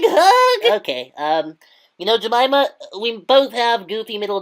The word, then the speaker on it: Jemima: syllables in your name jamaa also has four syllables huh J no it's three syllables helva is four yeah